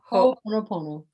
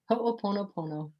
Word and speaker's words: Ho'oponopono: Ho'oponopono. Say it again. Ho'oponopono.